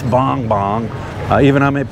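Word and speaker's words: Bongbong: let me what likes boom boom boom boom i better pronounce it right somebody say it's not boom boom it's bong bong uh even i'm pronouncing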